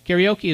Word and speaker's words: karaoke: Karaoke is a terrible pronunciation, but that's the common English pronunciation.